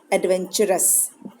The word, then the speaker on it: adventurous: टर नहीं बोलेंगे, वेंटर नहीं बोलेंगे, TUR टर नहीं है, यहाँ चर का आवाज आएगा. एडवेंचर. एडवेंचरस.